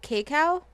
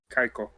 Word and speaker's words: Kaiko: It's an ARPG developed by, is it Kakao? Kaiko.